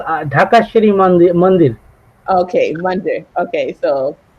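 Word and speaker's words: Dhakeshwari: to butcher the name, so I'll let him pronounce it. That Dakeshwari Mandir is. Can you help? It's called Dhaka Shri Mandir.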